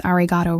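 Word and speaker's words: Arigatō: I did pronounce Ariato wrong. The final O was too short, too clipped.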